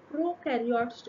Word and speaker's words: prokaryotes: what does it mean pro is rhyming with no so prokaryotes or they have prokaryotes